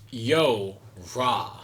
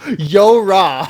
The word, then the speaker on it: YoRHa: I think this is how you pronounce it. It's Yorha. It's Yo-Ra. Yo-Ra. Yo-Ra. That's how you pronounce it. Yo-Ra.